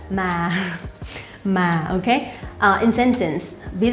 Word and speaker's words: mà: Ma. Ma. Ma. No, it's not like that. Ma.